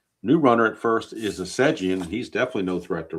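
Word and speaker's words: Essegian: And now we have left fielder Chuck Assegian. I'm assuming it's pronounced Assegian and not Asigian. I'm going to guess it's Assegian. If anybody knows for sure, let me know. I'm guessing it's Assegian.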